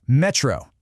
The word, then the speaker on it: metrô: See that accent again? It tells you the stress is on that last syllable. So, it's metro.